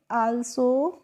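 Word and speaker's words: also: अब है ए एल एस ओ तो देखिए इसको हम पढ़ेंगे आल्सो और आल्सो की हिंदी मीनिंग क्या होती है?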